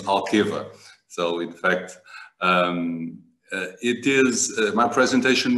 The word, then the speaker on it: Alqueva: The correct way to say is Alqueva.